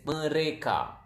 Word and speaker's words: mereka: They is mereka.